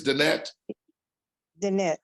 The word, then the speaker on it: Danette: uh danetta is uh no that's not danetta it's Danette Danette okay I apologize again